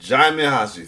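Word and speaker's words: Djimon Hounsou: and Jim Hanu, who was man on island in a quiet place, too. Jaime Hansu, thank you for helping me pronounce that name. I've been pronounced it for a long time, wrong for a long time.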